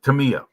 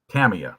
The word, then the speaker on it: Tamiya: With you know, like Tamiya. Think about Tamiya, excuse me. Tamiya, you said it right the first time.